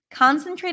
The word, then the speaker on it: concentrate: trying to concentrate here concentrate is a good word to practice it starts with the Oz and father con s cons I lied conate concentrate concentrate here I'm trying to concentrate